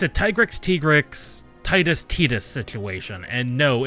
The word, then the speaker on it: Titus: It is an ital it is a Latin name from the Roman Empire and it's always been pronounced Titus. Just like the development company Titus.